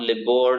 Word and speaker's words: LIBOR: liver I've heard liver so it's not lib or liver or any other television of that but it is LIBOR okay libor it so